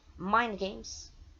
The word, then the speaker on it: Mind Games: Para você que não sabe o que é a pronúncia certa de Mind Games, escrita pronúncia Mind Games, M-I-N-D-G-A-M-E-S, Mind Games de 1973, que era um